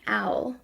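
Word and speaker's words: awl: And the first tool is an owl. At least I think that's how you pronounce it. It's spelled A-W-L.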